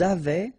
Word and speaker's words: avaient: Ils avaient, so look here, E-N-T, you write them, you don't pronounce them. So you get phonetically, avait, exactly the same thing that we had here, here, and here.